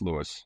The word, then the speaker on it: Louis: Well, usually, uh you know, it's technically pronounced Louie, but everybody calls me Lewis. So, it's Lewis.